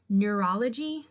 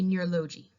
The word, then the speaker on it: neurology: anything to the definition it's simply easier to say neurology than it is to say near low G it rolls off the tongue